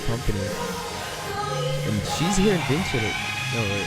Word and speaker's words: Vincere: Hello everybody and welcome to the first episode of Vincere. Yes, that's how it's pronounced.